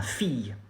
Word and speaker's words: fille: You say ma fille. Ma fille. Fille. Fille. It's pretty simple. You don't pronounce the final E.